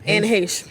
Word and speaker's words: Anne Heche: Anne Heche.